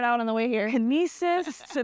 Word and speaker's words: Knossos: on the way here kesis like she was like just think of c c c you got to say the K you got to say the K not silent folks my name is